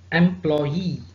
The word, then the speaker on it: employee: of these suffixes or stress on the last syllable for example employee so it's ending with EE addressee referee absentee that's in the examinee devotee so the stress is on the last level M law e at